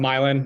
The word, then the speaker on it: Milan: last name correctly uh it's pronounced Milan no one ever gets it right yeah these days I'm